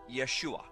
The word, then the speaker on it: Yeshua: first the name of Jesus Jesus's name is pronounced Yeshua in the Hebrew his name is formulated from